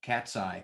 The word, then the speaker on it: Katzcy: In fact, I should ask a bit about your company, Katzcy. That's an interesting name because it sounds like a cat's eye, but you don't spell it that way.